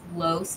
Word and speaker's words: Los: He gets on my case because I keep pronouncing his name Los, and that's not what it is. It's Los, like Carlos. Los.